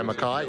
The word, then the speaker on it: Mackay: We're looking forward to Mackay, I think that's how it's pronounced. Yeah, Mackay.